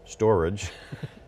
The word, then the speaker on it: Storj: Our next guest is Ben Golub, who's the Executive Chairman and Interim CEO of Storj, pronounced storage.